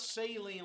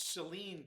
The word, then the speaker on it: Saline: speech people it's it's it's not saline like saline solution it's celine county the emphasis is on the second salah um as my